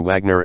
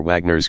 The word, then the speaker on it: Wagner: Unfortunately, my speech synthesizer is not very well educated, and it pronounces him with a soft W. I have to spell him V A R G NE R to get it to sound approximately right.